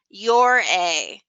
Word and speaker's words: Ouray: The local townspeople of Ouray, Colorado, say it Ouray or Year-A, while here on the building, we tend to pronounce it Your-A. Hey, Ouray, you know what I say?